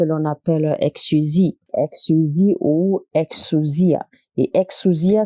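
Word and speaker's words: exousia: la puissance que l'on appelle exusi exusi ou exusia et exusia s'écrit e in u s i a et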